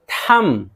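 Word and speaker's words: thumb: कॉम कॉम कंघी कंघी Baum बम ब माना बम थम थम देखिए बी साइलेंट है अंगूठा डाउट अब इसी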